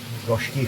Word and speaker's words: goshiki: Another goshiki here. Goshki, whichever way you like to pronounce it.